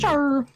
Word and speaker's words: Char: It's Shah from like Gundam, from like the classic Gundam. Char.